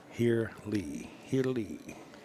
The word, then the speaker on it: Haley: Haley is pronounced Here Lee.